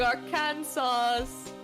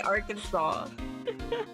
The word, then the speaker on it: Arkansas: What did Tennessee um con Kentucky the same thing are can sauce? Oh my god, that's horrible. That's not even how you say it. It's not even how you say Arkansas.